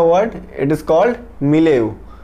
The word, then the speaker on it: milieu: सो for today we have a word, it is called मिलेव। मिले इसमें ई यू हम लोग प्रोनाउंसिएट नहीं करेंगे।